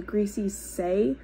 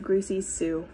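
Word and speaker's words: Greasy Sae: um also by the way did anyone else know that it was greasy say I for the last 10 years I've always said greasy Sue but this reread I noticed it's spelled s-a-e not s-u-e anyway um let's see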